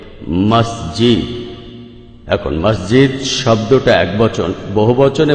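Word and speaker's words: مسجد: উচ্চারণের শব্দ থেকে মাস এটা আসলে মিশরী আরবি শব্দ যেটার সঠিক উচ্চারণ হবে মাসজিদ এখন মাসজিদ শব্দটা একবচন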